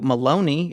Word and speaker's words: Maloney: This is from Andrew Maloney. It rhymes with baloney.